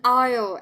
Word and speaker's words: aisle: like that and next an aisle and letter s is silent an aisle here yeah